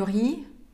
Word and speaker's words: riz: Fils de Dieu du riz et des agrumes. Кстати, riz, который пишется как R-I-Z, опять-таки читается как «ри», без последней согласной, и обозначает «рис».